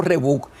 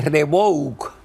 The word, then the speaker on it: Rebouc: El río Rebouc se escribe Rebouc y se pronuncia Rebouc.